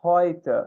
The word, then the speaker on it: heute: Então, Leute, heute, hoje, bem parecido com o português essa. E neu também, que significa novo. Essa aqui bem parecido com o inglês. Gente, viu EU é oi. O som é oi.